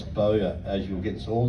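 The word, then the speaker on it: Bowyer: Remember the spelling is B O W Y E R and pronounce BOA as you'll get this all the time and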